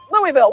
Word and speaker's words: Louisville: Can you pronounce this word? Louisville. Louisville, well done.